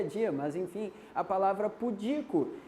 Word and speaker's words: pudico: mas enfim a palavra pudico é um outro exemplo de silabada é muita gente fala pudico e sair acentuando não não não é público é pudico isso aqui é o